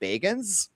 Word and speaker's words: Bagans: He actually pronounces his name Bagans.